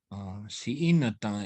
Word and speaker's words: Siinata: And this man, his name was Siinata, means stirrup, like stirrup on a saddle. Siinata is how you say that.